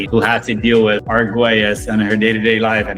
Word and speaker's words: Arguelles: It's Argues.